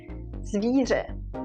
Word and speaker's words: zvíře: R, and loudly, R, zvíře.